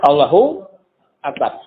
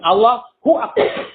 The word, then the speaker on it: Allahu Akbar: Jadi haknya ada 2. Ya kan? Allahu Akbar. Dipisah. Allahu Akbar. Kan yang benar itu harusnya Allahu Akbar. Allahu Akbar. Bukan Allahu Akbar.